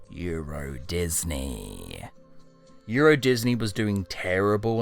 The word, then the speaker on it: Euro Disney: Turns out they read the sign wrong, and Eurosdeny is actually pronounced Euro Disney.